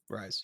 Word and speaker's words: Ryze: That's how you pronounce it, right? Ryze.